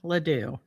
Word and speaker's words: LeDew: My name is Andrea Leoo.